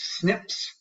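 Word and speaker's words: SNP: with the concept of single nucleotide polymorphisms pronounced snips right and so this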